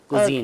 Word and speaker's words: Cusien: कुजीन के नाम से कुजीन के नाम क्या से, स्पेलिंग है आपके? और CUSIEN कुजीन।